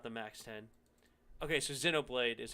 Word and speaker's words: Xenoblade: okay so xenoblade is how you say it so i have